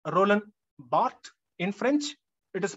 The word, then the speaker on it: Roland Barthes: roland barthe in french it is pronounced bhatt in english we say roland barthes